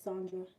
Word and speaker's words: Sandra: it's Sandra or Sandra my name is Sandra we pronounce it Sandra hey sorry my Wi-Fi